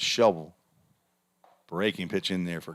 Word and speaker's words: Shelbyville: Or as the locals say it, Shelbyville. You don't even hardly hear the "vull" at the end. It's Shelbyville.